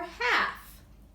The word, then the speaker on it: half: picture then we have our silent L before and F CAF or half all right you need